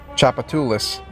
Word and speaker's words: Tchoupitoulas: lait alright pop quiz do you know how to pronounce this word it is part of a very famous street here Tchoupitoulas and the song was